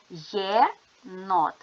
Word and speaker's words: єнот: звуки ділимо на склади єнот ставимо наголос єнот наголос падає на о приголосні звуки н твердий